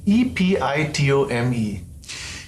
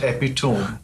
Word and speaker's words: epitome: not a said and e p i t o m e epitome epitome and not epone that's right not hyper bowl but hyper hyperbole.